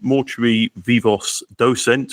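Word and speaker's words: Mortui Vivos Docent: I mean, I don't speak Latin myself either, but I guess it would be something like mortui, vivos, docent.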